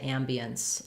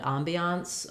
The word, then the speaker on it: ambiance: Ambiance um and then some people will say ambience um like ambient lighting so they sometimes will use the ah black cat vowel I would recommend Ambiance um for this particular word um first syllable stress ambiance the Ambiance in that